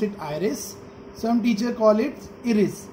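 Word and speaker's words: iris: तो इस ये जो आयरिस होता है, एरिस भी प्रोनाउंस कर सकते हैं, इस पर डिपेंड करता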